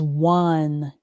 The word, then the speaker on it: one: And this word is one. The n The o is pretty much silent in this word.